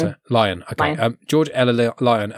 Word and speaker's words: Lyon: So um number 46 again I mentioned is George Ella surn her name sorry Leon. Is that how you pronounce it? Lion.